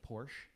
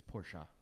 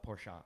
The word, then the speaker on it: Porsche: Coast thing I was honest and I said Porsche and the guy got so mad at me he's like please stop saying Porsche it's Porsche as a family and you're pronouncing their name wrong call it Porsche and I was like okay and when when